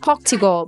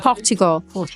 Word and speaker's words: Portugal: it thanks to him I used to pronounce pugal but thanks to Aon now I know how to pronounce correctly Portugal so between Portugal and